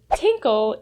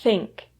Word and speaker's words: think: bad to any fluent speaker because the word tinkle is a word commonly used for our kids